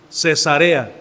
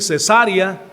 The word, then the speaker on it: Cesarea: Ahora esta palabra Cesarea, así es como se pronuncia, Cesarea, porque usted le dice Cesarea, pues va a ser otra cosa muy diferente, ¿verdad, hermanos? Ok, este es Cesarea entonces.